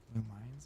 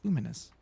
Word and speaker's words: Lumines: No, it's not Lumines. It's Luminous. Look how it's spelled. Long. The E at the end makes for a long vowel sound before.